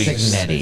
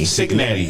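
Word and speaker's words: Cignetti: How do you pronounce it? Signetti. Signetti.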